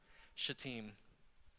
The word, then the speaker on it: Shittim: Those of you that have your Bibles open and reading along with me, here's how my Hebrew professor told me to pronounce this word. Shittim. Really?